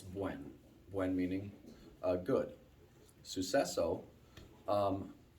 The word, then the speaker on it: Buen: So, Buen is like Gwen. Like if you've ever known a girl named Gwen, it's Buen.